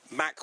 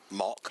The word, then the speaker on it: Mach: possible and said, well, let's just try and spell it in your head, shall we? Spelling your head, M-O-C-H, mock. H. Yeah, H. M-O-C-H, which is mock. Now spelling your head, M-A-C-H. It's Mac.